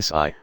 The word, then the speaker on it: Si: associated with the heart; Si, pronounced like sir with a slow exhale, which is associated with